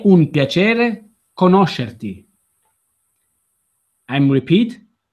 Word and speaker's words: conoscerti: È un piacere conoscerti. Say that the last word again. Conoscerti. Conoscerti. Yes. Conoscerti. Conoscerti. Mm-hmm. Yes. So the syllable stress here is on the syllable no.